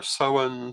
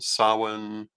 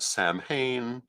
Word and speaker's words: Samhain: Celtic in origin, and the name has several different possible pronunciations. The most common ones are Samhain, Samhain, Samhain. And of course, you often get Samhain, which sets some people off, and personally, I'm not